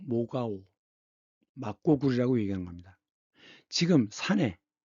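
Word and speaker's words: 莫高: 이 사진은 막고라고 읽는데 중국 발음은 모가오, 막고굴이라고 얘기하는 겁니다.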